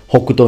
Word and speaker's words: Hokuto: There are many possible meanings, like the famous Hokuto in Hokuto no Ken. But in this case, I can only tell you the pronunciation.